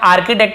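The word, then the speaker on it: architect: इसे हम आर्किटेक्ट पढ़ेंगे, आर्ची नहीं पढ़ेंगे।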